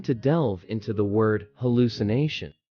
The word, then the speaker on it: hallucination: Pronounce hallucination as hallucin, with the emphasis on the second syllable, lu.